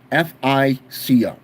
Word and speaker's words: FICO: The second paragraph says, your credit score, often called your FISCO, F-I-C-O, FICO, I believe is how it's pronounced, score, because it was